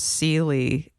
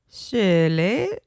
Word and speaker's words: Seeley: My name's not actually pronounced Seeley. In Norway, it's like Seeley. The only way I can even attempt to say it, the way Norwegians say it, is to do an imitation of the Swedish chef.